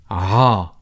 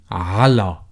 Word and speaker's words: على: Or sometimes people tend to shorten it and pronounce the first sound or letter only. So you would hear people say aha instead of saying ala, or fully pronouncing this preposition. So they would say aha instead of ala, which means to.